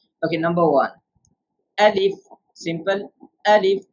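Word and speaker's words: ألف: Alif, no stretch.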